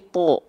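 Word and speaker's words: ط: ketika berharakat fathah kan dibacanya bukan ta tapi tho ya Enggak karena apa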